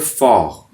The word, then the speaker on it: Vor: then a word called, " Vor" that is used for " Before." spell: V( Fau), O(ou), R ( Err) , Vor. do not pronounce GHAIN so much at the end of the word."